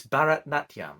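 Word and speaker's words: Bharatanatyam: like that I believe some people have said on the comments that it's Barat natam which I think is the correct pronunciation and that it's a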